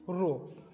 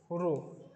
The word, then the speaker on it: rho: কি নিচটা বাঁকা হবে, এটাকে বলবো আমরা কি রো, RHO, রো, বাংলায় কি রয় করে রো, এরকম করে আমরা উচ্চারণ করতে পারি।